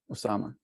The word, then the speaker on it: Osama: pronounce your name you you pronounce it just right Osama okay great just to